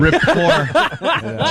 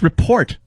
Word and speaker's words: rapport: If you can get Americans to say a silent T regularly, I think that's impressive. Rapport. Jimmy actually once yelled at me. He goes, "It's report," and I was like, "No, Jim.